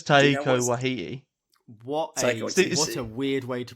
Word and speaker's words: Taika Waititi: but I know it's Taika Waititi. What a weird way to pronounce his name. How do you say it? I like Thor Ragnarok. You did that right.